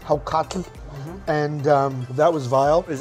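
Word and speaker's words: hákarl: and rotting shark Oh people call it hope Carville but it's actually pronounced how cocky and that was vile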